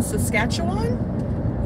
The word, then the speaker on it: Saskatchewan: Daryl says hi from, let me see if I can pronounce this, hold on. Saskatoon, Saskatchewan?